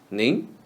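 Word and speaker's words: 您: And ning is the last syllable of the word melanin, read in the second tone. Melanin, ning.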